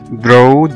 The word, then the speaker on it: draw: وكلمة draw draw أو يرسم زي ما احنا عارفينها D R A W ال A هنا نطقناها O لأن جه بعد منها W.